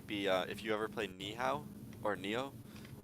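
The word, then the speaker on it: Nioh: if you ever play Nihao or Neo. I forget how it's pronounced. 1 second. Neo pronunciation. Let's see. It's yeah, Neo.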